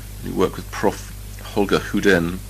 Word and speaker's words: Hyden: Okay, now 1962, 32, you go to Sweden and Gothenburg, or Göteborg, however they pronounce it. You work with Prof. Holger Huden, spelled Hyden, That's correct.